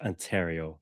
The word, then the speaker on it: Ontario: That's it's pronounced Ontario, Maia.